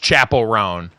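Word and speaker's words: Chappell Roan: No, it's Chapel. It's Chapel. Think of like a chapel at a church. Chapel Roan.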